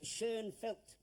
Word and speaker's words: Schoenfeld: Some of you may pronounce it Schonfield for convenience, but the correct way is Schoenfeld. The name and the spelling are German.